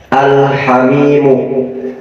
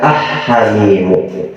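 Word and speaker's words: الحميم: Untuk membacanya, yaitu menjelaskan huruf lamnya. Al-hamimu, al-hamimu jangan dibaca ah-hamimu.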